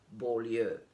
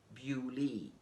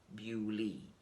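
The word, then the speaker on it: Beaulieu: pronunciation for it is bewley bew is kind of logical because it comes from beauty beautiful so there is a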